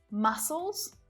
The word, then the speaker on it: muscles: Muscles, scissors, seam. I mean, really, that C just doesn't need to be there because S is doing all of the work making the sound anyway, right?